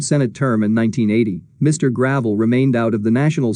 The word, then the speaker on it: Gravel: Senator Gravel, pronounced Gravel, like most of his